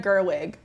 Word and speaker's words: Gerwig: The big thing that we wanted to talk about today is Greta Gerwig.